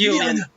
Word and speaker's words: Yulian: Actually, I'm gonna say Yulian because that's actually how they pronounce it in the Japanese. So I'm just gonna keep saying that. It's Yulian.